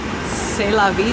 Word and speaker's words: C'est La Vie: C'est La Vie, that's how you pronounce it.